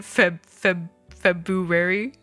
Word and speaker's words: February: What do you mean, February? February? Obviously that rolls off the tongue a lot easier, but you're missing in the entire fucking R, bro. It's February.